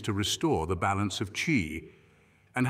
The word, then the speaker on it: qi: are governed by a life force known asqi pronounced Chi this Chi flows through us in channels known